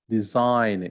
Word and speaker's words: design: don't speak the l design you don't speak the g dishonest you don't speak